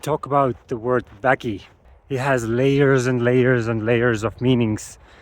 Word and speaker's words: Vägi: It's pronounced Väki, and it means power, strength, or energy, I guess, in Estonian.